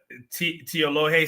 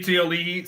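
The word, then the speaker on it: Tiaoalii: Help me with the pronunciation here. Am I saying Teolohe Sevilla? Is that I think that's probably right. I think it's Teoli'i. Teolihi. Yeah, Oli'i. Yeah. Olihi. Okay, give me Teolihi Sevilla.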